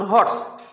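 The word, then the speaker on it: horse: অ্যান বসিয়ে দিলে, তার এটা কিন্তু উচ্চারণ আর অর্স না, এটার উচ্চারণ হর্স।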